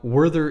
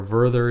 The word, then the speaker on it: Wörther: of the pen now worther is a German company from Baden Baden uh or vther is probably more correct pronunciation and they make a